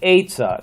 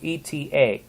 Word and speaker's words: eta: next letter will be eta now it looks like an n but it's not an n though got to make sure that you don't pronounce it no like in nancy